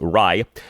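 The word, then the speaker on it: Raih: Uh David Ry, his last name is spelled R AIH, is pronounced Ry.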